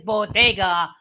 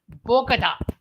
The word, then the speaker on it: bodega: First of all, for the benefit of our audience members who does not speak Spanish, the correct pronunciation is bodega, not Bogota.